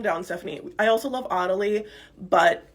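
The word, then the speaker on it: Otty: Stephanie I also love oty but it only works in the UK because it should be pronounced Otti and I think we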